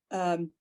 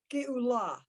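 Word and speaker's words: גאולה: So it's Gaola. Nope, stop. Okay, 2 dots under a letter at the beginning of a word is like the I in it. Geula.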